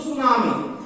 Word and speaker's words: tsunami: इधर आइए, what is तो सुनामी, टी साइलेंट रहेगा इसलिए बोलेंगे सुनामी।